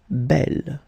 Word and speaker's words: belle: So it's actually quite interesting because these two forms, so the second masculine form and the feminine form, are phonetically the same. It's belle.